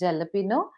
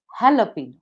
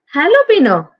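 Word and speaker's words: jalapeño: is not pronounced as jalapeno it is pronounced as jalapeno jalapeno yes it is pronounced as jalapeno J is not Sil like J is silent and actually ha the pronunciation begins with ha jalapeno jalapeno oh yes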